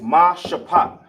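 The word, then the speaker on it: משפט: Then you got ma shapat. See how you ain't got the A right here at the end for the ta? That's because it's connected. You got the pa and the ta. Minus the A, you got sha, ma shapat.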